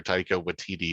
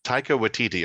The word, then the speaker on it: Taika Waititi: Taika Waititi is the director, and also who plays Korg, the Cronin rock man in it.